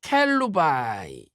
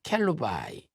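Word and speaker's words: כלובי: 자, 글루베는 히브리어로 켈루바이. 그래서 역대상 2장 19절에서는 갈렙으로 표현이 되어 있습니다. 켈루바이.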